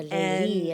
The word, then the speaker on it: Leyli: So, and I pronounce it a little differently, Leyla and Majnun, and not Layla and Majnun. Or Leyli and Majnun, as we heard earlier today.